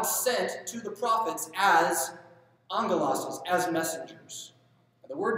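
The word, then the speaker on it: ἄγγελος: The word angel is a Greek word, spelled with two G's. And the N is not there, it's a sound that comes in with Greek two G's, angelos, which does not mean spiritual being in general Greek.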